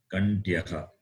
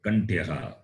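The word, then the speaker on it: Kaṇṭhyaḥ: H is not like the English H, it is got dot at the bottom. Visarga. So you have to pronounce Kantyaha.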